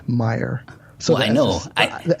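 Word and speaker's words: Meijer: Well, but they're Illinois is pronounced. It's not Illinois. It's Illinois, and Myers isn't Myers. It's Meyer.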